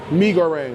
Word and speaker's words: mie goreng: Mie goreng, not mie. No. Mie goreng, okay. It's just spelled M-I-E.